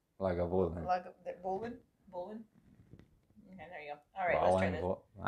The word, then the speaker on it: Lagavulin: Oh well, thank you for the pronunciation, Tyler. How you say it? Lagavulin. Lagavulin.